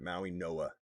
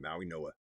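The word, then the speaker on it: Mauigoa: Um, so Maui Noah. Yeah, you're right. That's how he said it. Maui Noah. That's a weird way to pronounce that name. Maui Noah. Hawaiian.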